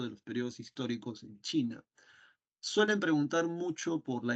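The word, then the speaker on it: Qin: viene el nombre de china porque esto se pronuncia chin chin de ahí viene el nombre de China é es el que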